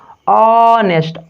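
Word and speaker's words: honest: वैसा ही सेम आप देखिए यहाँ पे ऐसे ऑनेस्ट, भले कॉन्सोनेंट लेटर है लेकिन प्रोनाउंस कीजिए ऑनेस्ट, प्रोनाउंस कहाँ से हो रहा है, ऑनेस्ट, यानी इससे हो रहा है ना वोकल कॉर्ड से, यानी वोकल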